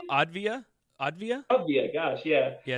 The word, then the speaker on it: Avdija: Now Danny Avdija, how do you pronounce his name? Advia.